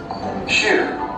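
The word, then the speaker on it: chou: you want to remember the French word sure which means cabbage in English sure this pronounced like shoe in English imagine cavities of shoes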